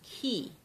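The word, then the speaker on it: 気: Western occultism again etheric substance Japanese call it ki it's related to Qi it's just their pronunciation key in Japanese for life force so so far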